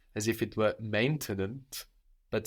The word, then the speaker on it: maintenant: to think again, okay, what do I know about French and how will it affect how I pronounce maintenant? Maintenant.